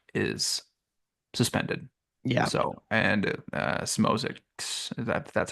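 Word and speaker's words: Szmodics: So, and Smozik, that's how you pronounce it.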